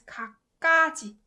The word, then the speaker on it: 갖가지: When you pronounce it fast, it becomes 갖가지, 갖가지, 갖가지. This it adds more emphasis on 그, 갖가지, 갖가지.